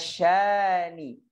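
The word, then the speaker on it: شانئك: Inna syani, huruf sya, hati-hati tengah lidahnya yang naik.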